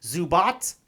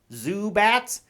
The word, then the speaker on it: Zubat: miyuchi played keketsu Zubat that is pronounced Zubat not Zubat you know the little